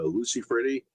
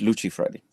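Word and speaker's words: Lucifredi: when Jerry introduced you, he pronounced your last name uh Lucy Freddy. I always assumed it was Luchi Freddy. What's the correct pronunciation? Uh, you're right, Jabber. It's Luchi Freddy. But because she is not an English sound, it's it's a kind of a trick. It's a trick word.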